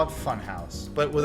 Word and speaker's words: Funhaus: No, house is spelled with H-A-U-S. House. House. Funhouse. Like Hauser.